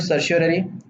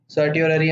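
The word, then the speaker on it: certiorari: Next rate दोस्तों है सर्शियोररी। सर्टियोररी या सर्शियोररी, आप जैसे प्रोनाउंस करना चाहें।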